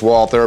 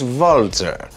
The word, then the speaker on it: Walther: We English speakers pronounce this Walther, but if you are German or Austrian, you would pronounce this Walther.